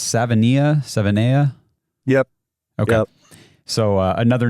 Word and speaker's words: Savaiinaea: And how did you say it's Savaiinaea?